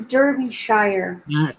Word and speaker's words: Derbyshire: B Nobi Shay yeah it says Derbyshire Derbyshire that sounds pronounced there's no R you've got to try